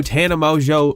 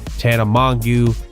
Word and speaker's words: Tana Mongeau: to get demonetised so if you didn't know Tana mojo released her first song on Monday yes it is pronounced Tana mojo it's not pronounced Tana mangu Tana Mongoose Hanuman geese 9:10 Amazo and it certainly is